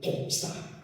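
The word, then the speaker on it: δόξα: 그 헬라오로 영광이라는 단어가요. 뭐냐? 독사. 예. 실제로 그렇게 발음합니다. 독사예요.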